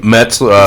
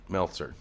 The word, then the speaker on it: Meltzer: Metzler. Like Dave reporter. Meltzer.